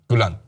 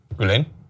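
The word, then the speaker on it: Gülen: of kar's affiliation with g I think I'm pronouncing that right um gulan thank you gulen thank you edin it but so my point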